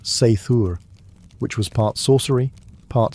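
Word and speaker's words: seiðr: Sometimes it relied on magic, specifically a mysterious practice called cider, pronounced sthur, which was part sorcery, part spiritual therapy, and part my ex won't return my runes.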